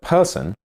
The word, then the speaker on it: person: In the word person, the first syllable is stressed, and the second syllable has a schwa sound.